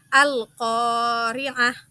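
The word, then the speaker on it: القارعة: dengan huruf alif sukun maka kita wajib memanjangkan bacaan kita seukuran satu Alif ataupun dua harakat cara membacanya adalah alqoriah sekali lagi alqori'ah Nah kita lanjut ke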